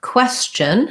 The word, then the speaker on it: question: combination of sounds so the q u in question is a quo k w sound qua the e says